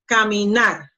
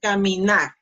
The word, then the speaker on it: caminar: Pronunciation, caminar, caminar. So, the last syllable, nar, is the strongest one. See? Caminar.